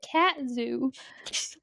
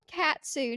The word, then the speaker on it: katsu: You said cat zoo. It's called katsu chicken.